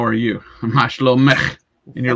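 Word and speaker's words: מה שלומך: Mashlomech is how are you? Mashlomech.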